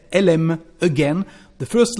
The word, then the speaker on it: elle aime: Elle becomes the sound E, before a verb starting with a vowel or a mute H. So, elle aime, she likes, she loves. When we speak, we say elle aime.